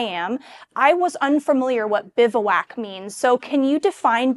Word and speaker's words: Bivouac: First question everybody asks is how do you pronounce it? Um, and it's Bivwak.